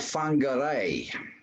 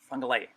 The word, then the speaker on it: Whangarei: A city called Whangarei. Whangarei. All right. Is that far from Auckland? It's a Maori word, Whangarei. It's actually spelt with a WH, but it's pronounced like an F. So it's Whangarei, but it's also Whangarei.